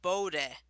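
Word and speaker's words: Bodø: to the effect that you have BODO, but that O, but the last O's got the thing, so they pronounce it Bode. So, Boda, yeah.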